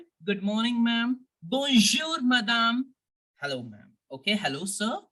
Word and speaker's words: madame: means good morning ma'am it is not Madam no not like English good morning ma'am bonjour madame hello ma'am okay hello